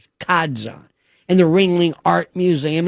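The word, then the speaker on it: Ca' d'Zan: And John Ringling owned a place in Sarasota, beautiful called Kadzan. I think it's a Venetian pronunciation of Casad Joan. Kadzon in the Ringling Art Museum.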